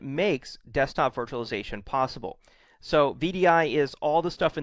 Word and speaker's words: VDI: what it stands for vdi is pronounced as an initialism not as a word so it's vdi it's not vidy um most people consider